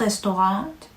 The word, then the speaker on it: Restaurant: 다음은 레스토랑, das Restaurant, die Restaurant입니다. 네. 레스토랑이란 단어는 영어랑 철자도 같고 하지만 발음을 약간 프랑스어처럼 restaurant 이렇게 restaurant이라고 해줘야 됩니다.